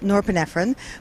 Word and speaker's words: norepinephrine: us to pay attention so it actually is pronounced norepinephrine but I thought well Nora pfron will allow